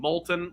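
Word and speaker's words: Moulton: called Miller and Molton Molton like the lava but not spelled like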